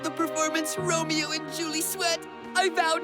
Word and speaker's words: Romeo: Romeo? Hello? Forsooth, it starts with an R line. Rhymes with polio, I say it all the time.